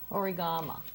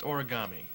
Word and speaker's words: origami: Origama, right? How do I pronounce it? It's pronounced origami.